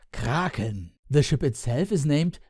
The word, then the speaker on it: Kraken: or kraken like ship in german it would be pronounced kraken the ship itself is named mr.